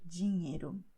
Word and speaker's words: dinheiro: In Portuguese, when you see NH, you're going to pronounce like in French when you say cognac. Okay, so you say dinheiro.